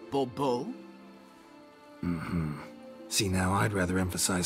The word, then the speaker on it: Bourbeau: I expect you to address me as Sir, or better yet, as Monsieur de Bourbeau. Fine. Monsieur de Bourbeau. The emphasis falls on the last syllable. Bourbeau?